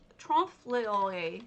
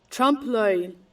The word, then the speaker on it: trompe-l'oeil: word for it because it's a, there is trompe-l'oeil. I can never pronounce it, so let's have it pronounced for us, shall we? Trompe-l'oeil.